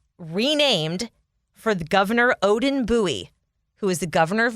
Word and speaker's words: Bowie: fun fact i like bowie i love the name it's just like buoy you know nice single syllable boom there it is